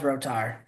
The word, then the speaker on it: Rotar: Cohen, I hear Roer a lot, but it's pronounced Rotar.